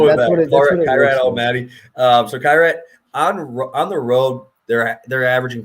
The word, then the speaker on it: Kairat: Kairat. I call him Kairat Almaty. I don't know. Okay, that's actually right, we'll go with that. Kairat Almaty. So Kairat on the road, they're averaging 2.2 goals, and